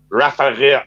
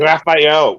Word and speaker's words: Rafael: then you have to start with saying my name ra wright rafael oh no raphael raphael that's right raphael you gotta roll that r right it was far